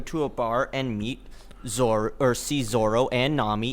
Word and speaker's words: Zoro: No, but is it Zolo or is it Zoro? It's Zoro. They say Zoro. I hate the original English publication. Or how'd that happen? Because L's and R's are the same, pronunciation in Japanese, so they just went with the L instead of the R.